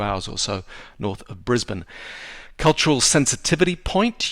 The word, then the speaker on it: Brisbane: or so north of Brisbane cultural sensitivity point you pronounce it Brisbane and you also pronounce it Melbourne uh not Melbourne or Brisbane uh you always kind